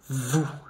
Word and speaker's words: vous: Vous. So you, vous, vous. O, you make ou, vous.